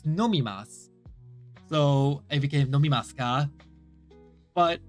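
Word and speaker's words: 飲みます: he told me that it's not Tas it's nomimas so it became NASA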